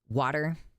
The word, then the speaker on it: water: Americans love to voice their T's and turn them into D's. It's true. Water. You ever think about the word water? We don't pronounce it with a T.